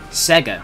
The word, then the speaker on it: Sega: back with the liing why are you saying it like that Sega Sega that's how you say it's Sega Sega it's literally how the jingle says it yeah but you